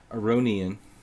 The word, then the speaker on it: Aronian: Petrosian, if I want to try to pronounce it correctly, which I should try to do. People always get on my case when I start pronouncing Aronian like an American. Aronian. Petrosian.